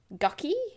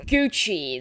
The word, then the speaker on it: Gucci: on Instagram and stuff that's Versace and that's gucky a helpful helper came to help and caught the end of our conversation she obviously felt that she would pass comment oh my dear it's pronounced Gucci that's how you say it darling the helper